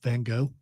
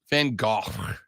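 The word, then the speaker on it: van Gogh: to his children and told it was Vincent van go uh that is a widely accepted Eng English uh pronunciation of it in Dutch it's van it's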